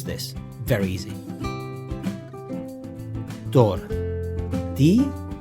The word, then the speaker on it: tortilla: So how do you pronounce this? Very easy. Tortilla. Tortilla. Tortilla.